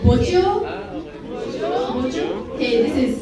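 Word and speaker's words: bojio: Okay, the next word is called bojo. Bojo? Okay, this is spelled B-O-J-I-O.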